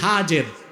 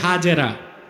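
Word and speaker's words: هاجر: এবার তুমি তোমার স্ত্রী হাজের যাকে আমরা বলি হাজেরা হাদিস শরীফে তার নাম এসেছে কি নাম আমরা বলি সমস্যা নাই শুদ্ধ উচ্চারণটা কি হাজের হযরত হাজের আর তার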